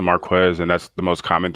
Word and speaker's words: Marquez: difficult to pronounce um i usually get you know marquez um opposed to marquez and that's the most